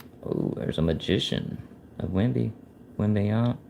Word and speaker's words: Wembanyama: Oh, there's a magician of Wembanyama. How do you say that? Wembanyama.